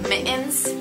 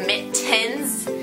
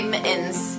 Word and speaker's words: mittens: why do people say mittens when the real pronunciation is mittens when there's two T's in the word mittens so like m i t t e n s but people like to say mittens it's like no it's